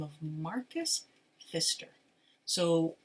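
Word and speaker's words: Pfister: the name of Marcus Fister so it's p f i s t r but the p is silent English is such a weird language so it's Marcus um Fister wrote the the rainbow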